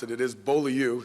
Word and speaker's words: Beaulieu: For those of you that don't know how to pronounce it, it is Beaulieu. It's a French term.